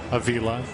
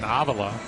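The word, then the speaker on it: Avila: His father and grandfather were known for the pronunciation Avala, but Alex got so used to people just mispronouncing his last name, he's just embraced it. And now instead of Avala, it's Aila.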